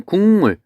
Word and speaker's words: 국물: 국물. 얘는 어떻게 발음해요? 국물이라고 발음했죠. 자, 그러면 뭐가 뭐로 바뀌었냐면 여기 있는 기역이 이응으로 바뀌었어요. 그럼 이응이 뭔지를 보면 되죠.